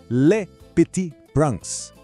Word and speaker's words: Le Petit Prince: E só a pronúncia do título já é uma aula. Vamos lá? Le Petit Prince, de Antoine de Saint-Exupéry.